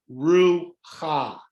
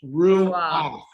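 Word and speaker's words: רוח: So you would have thought to pronounce this ru-ha, Yes. but this is the flipped sound, so it becomes ru-ah, Ruah.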